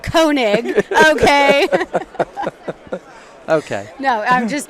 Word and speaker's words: Koenig: We're at SHOT Show at the Ruger booth with the one, the only Doug Koenig. Right, you pronounced it correctly.